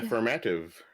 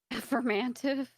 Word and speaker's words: affirmative: Affirmative. Affirmative? Oh my gosh. That was such a weird way to say affirmative. Put my emphasis on the wrong syllable.